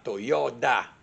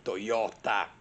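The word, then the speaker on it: Toyoda: la casa automobilistica giapponese si chiamava Toyota con la d di Domodossola e non Toyota Con la T di Torino Comunque come sapete la Toyota cioè la casa automobilistica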